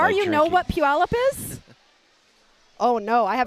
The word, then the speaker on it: Puyallup: And do you know how many and it's spelled Puyallup. Puyallup.